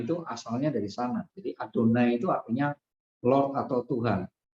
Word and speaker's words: Adonai: Jadi tulisan itu dibacanya Adonai karena itu adalah nama Allah yang harus dikuduskan dan tidak boleh disebut dengan sembarangan gitu ya.